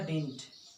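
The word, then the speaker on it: didn't: अब इसका देखेंगे शॉर्ट फॉर्म क्या हो जाएगा डिड नॉट का, डिडंट। डिडंट, ठीक है, डिडंट लिख के एंटी के बीच में कॉमा लिखते हैं, डिडंट पढ़ते हैं डिडंट, एक डी साइलेंट है।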